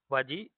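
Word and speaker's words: Vajji: However at least to महाजनपदाज़ वाजी जिसको ब्रेजी भी pronounce करते हैं।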